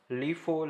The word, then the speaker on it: LIFO: are sometimes called as last in first out pronounced as lifo lists that is the